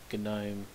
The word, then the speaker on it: GNOME: the fork of the old genome I believe it would have been 2.32 which is based on gtk2 the graphical tool kit for genome notice I don't say gnome I think it's correct to pronounce it good no but I'm not entirely sure that someone might want to correct me in the comments so this is what